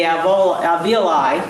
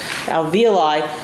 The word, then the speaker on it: alveoli: Andrews indicated, as a possible way that blood got into the alveoli, I keep pronouncing that wrong, alveoli, does this slide support leaching or a little bit of drainage?